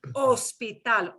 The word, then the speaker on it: hospital: Well, we don't want to go to the first one, but ignore the H, right? Yeah. Ignore the H. Hospital, hospital, Hospital.